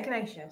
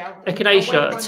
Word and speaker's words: echinacea: How on earth do you pronounce that? It's Beatrix. Beatrix's question. Echinacea. Yeah, echinacea. Sorry, echinacea tea.